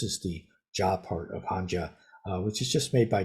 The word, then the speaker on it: Hanja: In Mandarin, this is pronounced something like Z. So in Mandarin, the Hanja is pronounced Hanza.